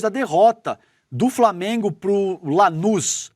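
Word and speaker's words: Lanús: E essa declaração veio depois da derrota do Flamengo pro Lanuz. É isso, né, Lê? A pronúncia desse time aqui, Lanus, por 1 a 0 no jogo de ida da Recopa Sul-Americana, tá?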